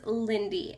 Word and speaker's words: Lynde: okay so recap so my name is lindy l-y-n-d-e that's how you say it lindy i get so many